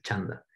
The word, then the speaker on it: chanda: O sea, si tú ves una C en sánscrito significa che, ¿no? Entonces, por eso es chanda, métrica, la métrica.